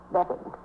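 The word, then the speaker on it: Beavan: And your name is Myra Bevan. I spell it B-E-A-V-A-N, but I pronounce it Bevan.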